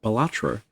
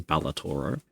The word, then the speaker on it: Balatro: I I I thought think that Bellator Balatro. God, there's there was a meme in a in a chat I'm in where somebody mispronounced it as Balator.